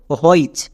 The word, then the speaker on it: which: হইচ। কিন্তু আমরা হইচ উচ্চারণ করি না, এই শব্দটা সাইট ওয়ার্ডস, একে হইচ উচ্চারণ করতে পারবো না, এর উচ্চারণটা হবে হুইচ।